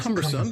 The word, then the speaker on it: cumbersome: cumbersome cumbersome the word cumbersome has three syllables the stresses on the first syllable what do you would